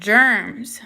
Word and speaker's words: germs: look at the word germs this is a tricky word because even though it's spelt with the g it sounds like a j where does germs fit